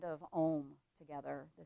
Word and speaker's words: Om: chanting the sound of om together the sound of oneness and om actually has uh four different pieces to it and then silence silence so if you